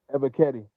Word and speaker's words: Ebiketie: Ebiketie.